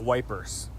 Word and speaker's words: Wipers: spelled i-e-p-e-r pronounced eeper of course the British soldiers who fought here didn't use either name they called it wipers Eber is best remembered